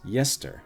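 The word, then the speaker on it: Gjester: Yester, so GJ, Esther, is pronounced Yester on account of the GJ consonant cluster.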